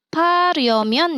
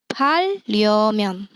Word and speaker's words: 팔려면: Oke, bacanya bukan 파려면 ya, tapi 팔려면.